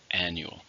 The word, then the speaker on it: annual: and it's an adjective how many syllables are in annual three stress in the first annual this is an annual